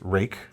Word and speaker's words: Ruike: From Ruike, spelled Ruike, but it's pronounced Rake. Pretty sure.